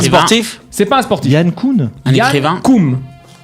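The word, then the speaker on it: Jan Koum: Yann Koum. Ça s'écrit J-A pour Yann. Et Koum, K-O-U-M. Yann Koum.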